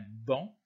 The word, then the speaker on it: banc: de se prononcent pas on dira par exemple un banc le sait ne se prononcent pas la couleur blanche on